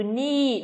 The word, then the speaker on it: knee: Nào, chúng ta thấy rằng là âm k là âm câm trong ba cái từ là từ từ A của chúng ta là từ gì đây nhỉ? Từ knee, đúng không?